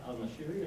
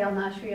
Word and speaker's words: al-Nashiri: And correct my pronunciation, because is it Al-Nashiri or Al-Nashiri? is, well, people say it two different ways. I say al-Nashri, other people say al-Nashiri.